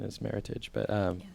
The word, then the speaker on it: Meritage: is a Meritage um a lot of people pronounce it Meritage but actually the correct pronunciation is Meritage but um not that we're we're not win